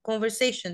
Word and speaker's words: conversation: conversation يعني محادثة، مش conversation يعني محادثة. والتي اي او ان اتنطقت شن، التي اي اي ان اتنطقت شن.